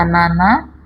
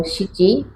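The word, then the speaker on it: 七: Kanji nomor 7 bisa dibaca nana atau shichi, juga memiliki cara baca lain yaitu nanatsu, artinya 7 buah.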